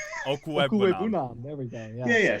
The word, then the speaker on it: Okwuegbunam: Okwuegbunam. Okwuegbunam.